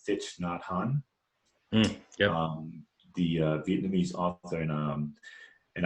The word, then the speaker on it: Thich Nhat Hanh: And so one of my favorite authors is, I think I'm saying it right, Thich Nhat Hanh, Yep.